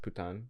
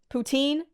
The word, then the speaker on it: poutine: recipe sweet potato I think it's pronounced putan like the poutine okay it French they say putan but or I guess